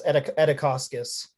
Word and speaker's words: Edikauskas: Edikauskas, did I pronounce that properly? Got you muted. Yeah, it's Edikauskas.